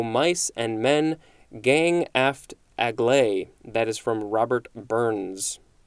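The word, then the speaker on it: agley: at the word acute a-c-u-t-e next we have aglai a-g-l-e-y this is an adverb from 1785 it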